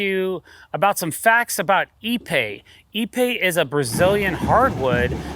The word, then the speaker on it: Ipe: might be considering using a real wood or epe for your own deck project I thought just give you some facts that we know about the product and the last one's really going to blow your mind epe is a very dense material it's pronounced EP